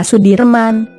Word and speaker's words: Soedirman: dalam memperjuangkan kemerdekaan Indonesia Jenderal besar Soedirman menurut ejaan soewandi dibaca Sudirman Ia merupakan salah satu orang